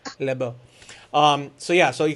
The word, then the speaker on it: Lebeau: naboo yes i love i don't have the french accent i do not have le bo libo um so yeah so